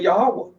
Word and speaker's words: Yahweh: Although I pronounce the Creator's name Yahuwah, and I also pronounce his name, I can say Yahweh. I can say Yahuwah or Yahweh.